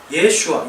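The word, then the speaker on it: ישוע: 그러니까 호세아, 여호수아, 예슈아, 예수님의 이 히브리식 발음은 예슈아잖아요.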